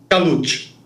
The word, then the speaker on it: Kalout: Errei na expressão ou não, na pronúncia? Khalioiti.